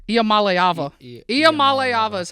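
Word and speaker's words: Iamaleava: IAM hold on there's AA nope it's not IAM Mala it's IAM malava IAM malava is how you pronounce his last name I figured it out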